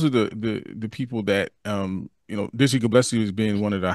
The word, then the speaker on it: Gillespie: Gillespie.